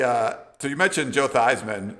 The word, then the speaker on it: Theismann: so you mentioned joe theismann who i think was these men at the time they changed his name to like rhyme with the heisman uh he had a